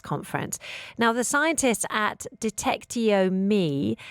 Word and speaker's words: Detectiome: Is it Detectiome or Detectiome? Or have I got the whole pronunciation incorrect?